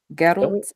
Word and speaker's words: Geralt: Geralt. Like Gerald with a hard G.